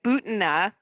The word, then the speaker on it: Butina: and I know you've already talked about Maria Butina, I just learned her pronunciation, is the sort of evangelical NRA connection that sometimes Trump is using evangelicals to kind of whitewash him.